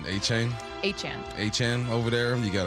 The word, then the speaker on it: Achane: And you got, how do you say, not Etienne, Achane?